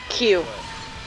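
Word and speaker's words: queue: Q. Q-U-E-U-E. Do you know why it's my least favorite word? because it sounds like a letter. Yeah. It's just the letter Q with 4 silent letters behind it.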